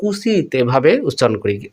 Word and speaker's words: উচিত: পর্যন্ত এখানে উচ্চারিত হয় না এই শব্দ আমরা উচিত এভাবে উচ্চারণ করি আমরা কি কখনো বলি যে উচিত অর্থাৎ অচ্চারণ হয় বা ও উচ্চারণ হয় না তাহলে বন্ধুরা এটা আমরা কি